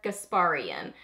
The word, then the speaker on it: Gasparian: how to say it so I think it's Sonia gasparian I think her channel